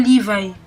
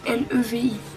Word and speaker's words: Levi: bataillon d'exploration dirigé par le caporal le caporal Liv donc moi je l'appelle le lieutenant Liv donc ça c'estécrit l V non le V non oui ça s'écrit Levi l e V i liv Levi wou donc au cours d'une expédition